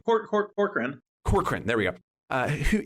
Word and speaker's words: Corcoran: make sure I'm getting his name right is kakan or uh say his name corkran corkran there we go uh who and he himself